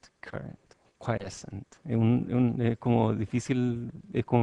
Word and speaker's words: quiescent: ¿Cómo se pronuncia eso? Quiescent current. Quiescent.